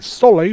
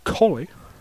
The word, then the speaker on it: Coley: I've been saying Soley, but it's actually Coley.